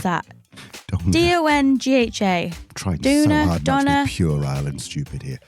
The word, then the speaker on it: Donga: Paul Donga, how do you pronounce that? Dongha.